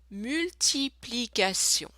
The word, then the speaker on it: multiplication: And T-I-O-N is a sound, T-I is a sound S, not sh, S, sion. So, multiplication. Let's do this one more time. Une multiplication.